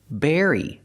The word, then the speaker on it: berry: it's very important hey Berry very they almost sound the same the B makes a close sound bbbb Berry and the V makes a vibration sound very but the rest of the word is exactly the same Berry very so let's talk about berries